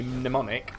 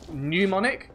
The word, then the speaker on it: mnemonic: Have you heard some Americans say mnemonic, which is M-N-E-M-O-N-I-C, as pneumonic, like it's a plague, or like it's made of air, which I guess it is.